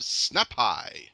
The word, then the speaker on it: Snapai: is someone that goes by the name of snap hi hello how are you I'm pretty good did I pronounce that correctly it is yes yep either